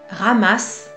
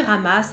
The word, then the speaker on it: Ramas: Il s'appelle Ramas. Alors, j'ai entendu Ramas avec le S prononcé, pas Rama.